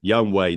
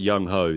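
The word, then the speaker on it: Younghoe: Young Way, not Yung-ho. That would be a very odd way of pronouncing it.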